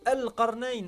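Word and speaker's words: القرنين: Et du coup là, si tu disais bah le alif en l'occurrence, il se prononce pas ici, donc je vais pas l'écrire. Bah à ce moment-là, on va être genre c'est c'est quoi ? Ah, c'est alarnain.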